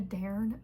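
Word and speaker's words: Dairn: turned into the like is it a darn? I think that's how it's pronounced.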